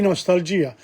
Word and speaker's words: nostalgia: Because the verb, the word nostalgia, G-I-A, is a diphthong. It's not an hiatus. A diphthong is when the vowels I combines with A, O, or U. It's called a diphthong. It's pronounced as one.